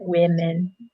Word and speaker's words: women: Yeah, and be careful with the pronunciation for that one as well, because the first sound changes. So we have woman and women, so it's an I for the plural, women.